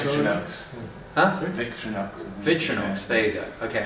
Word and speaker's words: Victorinox: But the manufacturer in this case, Victorinox. I've never heard of those guys. How do I pronounce that? Do I pronounce that right? Victorinox.